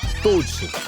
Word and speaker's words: Douchi: hint I won't read from this chatroom now "Douchi", that's the Chinese pronunciation "Now you're ignoring the main chat"?